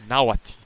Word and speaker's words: Nahuatl: It is pronounced Nahuatl.